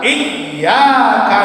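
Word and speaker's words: إِيَّاكَ: engkau kami minta tolong, bacanya yang benar iyyaka na'budu wa iyyaka nasta'in. Hurufnya tasdid, iyanya hidup kembali. Ada yang baca iya saja, iyyaka na'budu wa iyyaka nasta'in, itu artinya berbeda.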